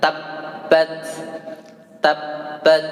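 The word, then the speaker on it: تبت: Ya, itu yang tabbat tasydidnya ya, tadi ketinggalan. Tabbat, tabbat ya. Abi panjang, abi lahabiu, abi lahabiu. Coba sekali lagi. Tabbat, nah, ada tasydidnya. Abi panjang, abi lahabiu.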